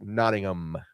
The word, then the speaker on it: Nottingham: I I was taught that the in England they don't they don't pronounce the ham. It's not like ham. I mean, it's spelled ham, but it's Nottingham, not ham.